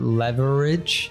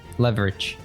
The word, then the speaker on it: leverage: too because it's not leverage it's leverage like we drop one of the e at least I would